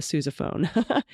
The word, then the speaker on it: sousaphone: I wanted to report the OU in Sousa is pronounced like you, like Suze. Okay, Sousa. Same goes for the eponymous wearable tuba, the sousaphone.